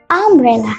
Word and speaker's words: umbrella: Berbeda dengan contoh kedua, ada kata umbrella. Depan kata bendanya itu U, tetapi ketika diucapkan dia berlafalkan A.